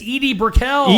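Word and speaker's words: Edie Brickell: uh Eddie brickl singer no what brel it's Edie Briel Edie Briel don't you remember her no she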